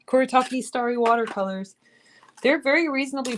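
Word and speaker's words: Kuretake: Koritaki Starry Colors. Koritaki spelled like that. K U R E T A K E. Kuritaki starry watercolors.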